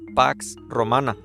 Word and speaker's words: pax romana: el en el en el griego antiguo se pronunciaba sino como Bueno lo más cercano pax romana pero era una falsa paz Es verdad no